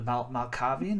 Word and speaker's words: Malkavian: Not gonna lie, the Malkavian, is that right? Am I pronouncing that Yeah, correct?